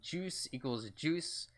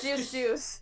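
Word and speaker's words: Juice=Juice: um current Miyamoto of juice equals juice announce that juice juice oh just juice juice yeah it's just juice juice you don't pronounce the equal I'm sorry I'm just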